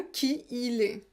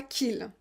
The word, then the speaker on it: qui il est: Donc prononcez bien qui il est. Pas qu'il.